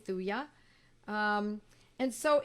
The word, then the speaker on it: thuja: some people pronounce it thuja but it's many of us pronounce it with a silent j thuya um and so it's